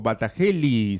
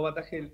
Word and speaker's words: Batagelj: Pronuncio bien su apellido porque me da ganas de, a veces le pongo Batagelli, sería, ¿qué es? ¿Croata o algo así? No, Batagel.